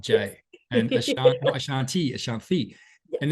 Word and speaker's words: Ashanthi: to things like as simple, I think, as pronunciation, which is why when we spoke earlier, I was like, not Jay, and Ashanti.